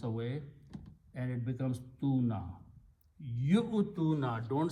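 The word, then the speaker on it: يُؤْتُونَ: Yu-tuna, don't say you-tuna. You-tuna is wrong. If you say you-tuna, you're pronouncing waw. Pronounce yu-tuna. Don't pronounce this waw, it is just written there.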